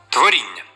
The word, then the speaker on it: творіння: ль всього звуків сім творіння вісім букв дві букви н у слові позначають один продовжений звук н плюс я яка позначає один звук а і м'якість приголосного н всього звуків сім Отже